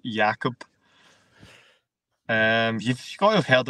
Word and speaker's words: Jakob: He's built like Jacob, but I'm sure it's pronounced Jakob.